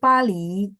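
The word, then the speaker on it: 巴黎: betul ibu Elena saya pali pali itu adalah Paris ya pali Paris kalau teman-teman bilang oh l kok sama bunyinya kayak Pulau Bali Iya bacanya sama tapi huruf Mandarinnya berbeda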